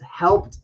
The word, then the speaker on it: helped: Helped out. Jane helped out. Yep, helped out. Our phrasal verb is helped out. Not help ed, but helped. It actually has a light T pronunciation.